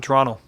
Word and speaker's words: Toronto: toronto it's just toronto you don't pronounce that last t it's an n toronto yeah that's how we